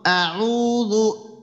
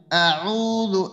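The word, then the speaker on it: أعوذ: আউযু আউযু, হ্যাঁ আউযু হ্যাঁ, ঠোঁটটা চওড়া করেন তো, ঠোঁটটা চওড়া করে এরপরে একটু শক্ত করে উচ্চারণ করেন তো, হলকের শেষ ভাগ একবারে শুরু থেকে।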